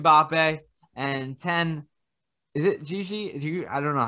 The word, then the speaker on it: Gigi: And 10, is it Gigi? I don't know how you pronounce it. Gigi Donnarumma. Exactly. Gigi.